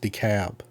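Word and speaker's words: DeKalb: but it's it's pronounced decab I don't know why they put that L right there in the middle of the name and then they don't want you to pronounce it I mean ALB would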